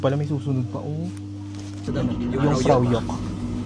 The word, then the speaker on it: Jungfraujoch: Yung Frau Yok. Yung pala ang pronunciation, hindi pala Jungfrau. Jok. Yung Frau Yok.